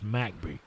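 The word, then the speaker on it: McBee: from macby South Carolina or MCB it is spelled but it's macby we call it macby back home but he's F he's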